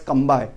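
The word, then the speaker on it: Cambay: Actually name of this is Khambat, but in English we are pronouncing as Kambai.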